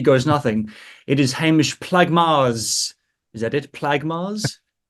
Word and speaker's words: Plaggemars: All right, Technically, if you're doing it in the Dutch pronunciation, it would be Plakkemas like that.